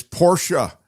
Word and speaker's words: Porsche: Mark, you do pronounce Porsche with the uh at the end. It's Portia. I confirmed and I'm trying to be a better person.